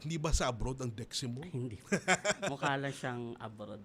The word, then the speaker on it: Deximo: Tama ba ang pronunciation ko sa apelido mo, Deximo? Yes po, Deximo.